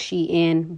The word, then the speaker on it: Shein: on social media so based on their response it's pronounced she in but due to the words being put together i'm gonna just pronounce the sheen and call it a